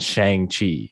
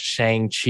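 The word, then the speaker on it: Shang-Chi: easier to follow but at least it wasn't shang chi at least they got that yeah at least they corrected everybody's pronunciation oh let's go watch shang chi it's like nah chang chi so you go from the ang to the ang and that actually helps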